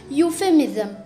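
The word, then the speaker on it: euphemism: यहाँ पर जो ई है वो है साइलेंट, इसलिए हम इसे पढ़ेंगे यूफेमिज्म।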